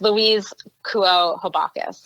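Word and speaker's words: Louise Kuo Habakus: that we're going to refer to, written by Luis Habacus. You probably butchered that name. That sounds awful. I'm sure her name does not sound like that. How do you say her name? Yes, Louise Kuo Habacus.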